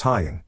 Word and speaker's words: Haying: school yesterday after school haying pronounced hying came up to me